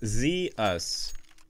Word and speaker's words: Zeus: I'm gonna practice on pronouncing your name later on tonight. If I ever get bored. It's Zeus.